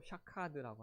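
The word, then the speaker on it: שָׁקַד: 그런데 12절에서 내 말을 지키라고 한 그 지켜는 히브리어로 샤카드라고 합니다. 그러니까 이 발음이 굉장히 유사하죠.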